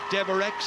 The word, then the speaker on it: Devereux: It's Kate Deverex, I'm told how they pronounce it rather than Devereux.